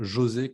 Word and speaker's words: José: Donc, en portugais, on le dit avec un J, donc c'est comme José, comme Joseph en anglais.